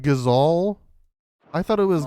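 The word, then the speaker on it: Gysahl: East pool a delivery from Martha these are gizall green seats wait it's pronounced gazal I thought it was Geisha strings then is she I've said that my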